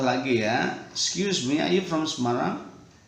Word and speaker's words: Semarang: by Ayu from Semarang ini bacanya Semarang saja enggak usah main-main enggak usah ya walaupun orang-orang asing mungkin nyebutnya sneleng seperti Cilacap kan